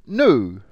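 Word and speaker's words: ν: as an average the next letter is new who knew here we go it looks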